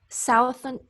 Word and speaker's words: southern: So this word here we pronounce south, but this word we pronounce southern. So we really change that vowel sound. It's almost just a plain U sound when we turn it from south to southern.